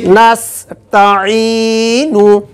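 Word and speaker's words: نَسْتَعِينُ: যায় নাস নাস নাস আইনের উচ্চারণ হচ্ছে গলার কোনখান থেকে উচ্চারণ হবে মাঝখান থেকে আইন ইয়াজির ই একালে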